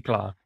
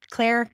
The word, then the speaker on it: Claar: Is it Claar? Yes. Claire is how my father pronounced it, but Claar is the more correct pronunciation. Because I remember from my time in the Netherlands, it was always Claar.